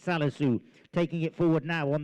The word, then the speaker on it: Salisu: I keep on calling his name wrong. I beg your pardon. It's Salisu taking it forward now on the grey.